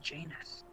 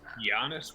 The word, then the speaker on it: Janus: Yes, Janus. It He doesn't. just wants to say anus. It's Janus. Giannis would also be an appropriate pronunciation.